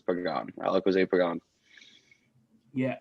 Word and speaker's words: Pagan: My name is Alec Pagan. It's written Pagan, but it's Pagan.